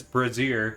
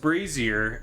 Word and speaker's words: brazier: that's reading it like did read it as breazier. Mhm. And and then he finished the sentence and he's like so that word is pronounced brazier.